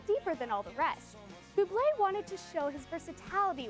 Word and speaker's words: Boué: Boob. You're really having a good time with his name today. I'm not a very good pronunciator of Bubé.